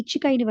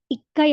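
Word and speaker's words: 一階: அந்த அடிப்படையில பார்த்தீங்க அப்படின்னா முதலாவது மாடி அப்படின்னு சொல்றதுக்கு வந்து இச்சுக்கைன்னு வராது இக்கை அப்படின்னு வரும் அதே மாதிரி மூன்றாவது மாடின்றதுக்கு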